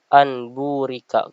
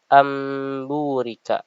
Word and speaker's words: amburika: Cara membacanya itu bukan anburika. Kebanyakan orang membacanya anburika. Tapi yang benar adalah amburika. Amburika. Langsung masuk ke bagian ba-nya tanpa membaca nun sukun.